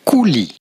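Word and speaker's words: coulis: yogurt with raspberry cooless in French this would be pronounced Kuli once again I opted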